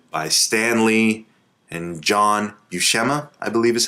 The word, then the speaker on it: Buscema: So this is a VHS co-hosted by Stan Lee and John Buscema, I believe is how you say his name.